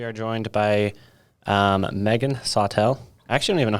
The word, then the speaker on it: Sawtelle: studios today we are joined by um megan sotel i actually don't even know how to say